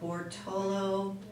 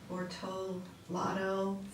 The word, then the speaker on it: Bortolato: I'm looking at the purchase orders issued in 2011, Yeah, and there's a Jensen Landscaping for 70,000, Bortolo, no, that's not how you say it. Bortolato for 106,000.